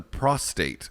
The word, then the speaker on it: prostate: a pain in the prostate may leave a man prostrate the name of the gland contains no r ew there's a big